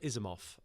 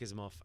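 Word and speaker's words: Asimov: what's he called um isof uh is Isaac isof and my stepfather was big in the SciFi I never knew it was pronounced isof isof isof I don't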